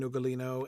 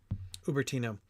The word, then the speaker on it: Ubertino: the long discussion between ugalino and William about heresies and uh all that sort of thing ubertino I keep saying his name wrong um ubertino um ugalino is somebody else never mind um anyway